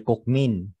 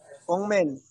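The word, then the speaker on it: 국민: Ito, ang tawag ng mga Pinoy dito ay Kukmin. Pero, di ba, anong basa dito? Kungmin. Kungmin. Ano? Yun ang tamang bigkas.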